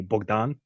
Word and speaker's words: Bogdan: than dr bogdan or if you say it in the traditional ukrainian would be bogdan so i kind of